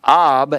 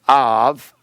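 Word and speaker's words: אב: Actually, ab is pronounced av, and you have that as a part of that word.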